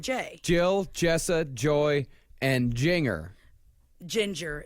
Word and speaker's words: Jinger: r looks likeing looks like Jinger looks like Jinger it's like Jinger Dugger Jinger it's pronounced gingering with a J and one G